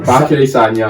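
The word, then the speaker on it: Bacary Sagna: but Bakary Sanya. Sanya. Thanks for coming along. I thought I said it wrong there. No, you're right. Bakary Sanya.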